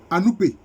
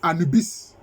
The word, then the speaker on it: Anoupé: Voilà, on l'appelle Anoupé ou bien Anubis. La forme hellénique prononcée, on dit Anubis. Mais c'est Anoupé.